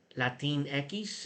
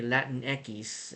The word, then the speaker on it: Latinx: it says here but spanish words do not end the letter x which is pronounced as ekis and some spanish speakers